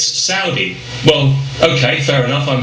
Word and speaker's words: Saudi: have said to me you know you're you're pronouncing that wrong it's not Saudi it's Saudi well okay fair enough I'm happy to pronounce it Saudi I'd be even happier if the country was